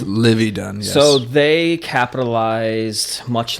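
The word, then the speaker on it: Livvy Dunne: But they're kind of like the Livy Dunn. Is that how you say it? Yes, Livy Dunn.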